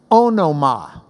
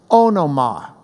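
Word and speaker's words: ὄνομα: name now this word name in the Greek oh no ma oh no ma if you're pronouncing it like a love a kite anima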